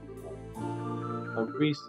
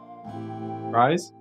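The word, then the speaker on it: Ries: Reese. Is that how you say your name? Reese? Rise? How do you pronounce her name? Rise, right? Like Ties, but Rise.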